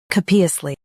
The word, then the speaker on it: copiously: Capiously. Now read the syllables shown on the screen naturally. Co Puzz Lee capiously stress co and keep P clear.